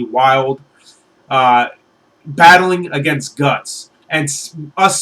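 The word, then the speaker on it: Wyald: tell you would say his name it's WY Ald wild battling against guts and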